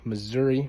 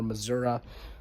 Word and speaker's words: Missouri: And then finally, Mike Kehoe is the 64-year-old Republican governor of Missouri or Missoura, uh depending on how you say it.